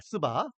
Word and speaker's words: 스바: 발음을 잘해야 됩니다, 여러분. 어, 우리가 그 3월 하에도 보면은 어, 어, 시바가 나오는데 자고 시바 시바는데 어,이 이번에는 스바입니다. 스바.